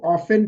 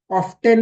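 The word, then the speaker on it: often: sentence you exercise ऑफेन इसको ऑफेन pronounce करते ठीक है ऑफ्टन नहीं कहते इसको क्या कहते है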